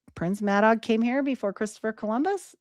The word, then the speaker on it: Madog: Madog and this book, or it's pronounced Madog, but it's with a G.